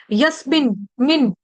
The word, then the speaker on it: यस्मिन: सा है यज्ञ वाला इसको जस कोई नहीं पढ़ेगा जस नहीं है यह यस यस्मिन मिन यस्मिन यस्मिन गता न